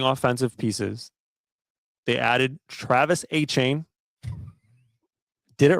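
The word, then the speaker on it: Etienne: Adding offensive pieces, they added Travis Achain. Did it right? Previously, Travis ETM, but Travis Achain, they went out and get Jordan Tyson in the first round.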